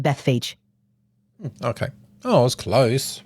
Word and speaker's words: Bethphage: It's usually pronounced Bethphage.